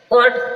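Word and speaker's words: caught: जी H silent है कोट कोट means पकड़ा जी silent है ब्रोट ब्रोट मींस लाया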